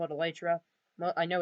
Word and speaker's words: elytra: call it whatever you like i call it elytra no i know it's pronounced it's supposed to be called elytra but that's just how i've always called it